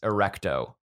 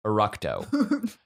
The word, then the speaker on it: Eructo: moving on to this goofy one uh slugulus erecto eructo slugulus eructo what that sounds profane okay it's